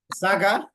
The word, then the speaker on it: Saga: You better you better talk about the names because I always butcher them. Yeah. Saga.